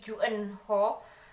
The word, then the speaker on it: June Hur: The Red Palace dari Juen Ho. Juen Ho ini sebenarnya tulisannya Junehur cuman setelah aku lihat di apa ya biodata penulisnya ini kalau dalam hungle-nya itu ternyata bacanya adalah Jen Ho.